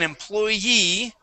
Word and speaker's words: employee: the job okay and an employee okay with the accent on the end employee works for the